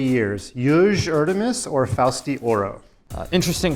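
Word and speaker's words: Erdoğmuş: in 3 years, Yuj Erdemis or Fausti Oro? Interesting pronunciation. That's not what the Turkish people told me how you pronounce it. But anyway, in 3 years, Erdomus is what I was told online.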